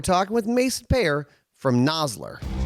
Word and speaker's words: Nosler: vo guy said once noseler uh mason welcome in man hey ryan how are you doing yeah no no nosler it's nosler but yeah probably one of the most mispronounced names in the industry i think yep yep